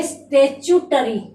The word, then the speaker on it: statutory: इसे बोलेंगे स्टेचुटरी। स्टेचुटरी, इस प्रकार से इसका उच्चारण किया जाएगा।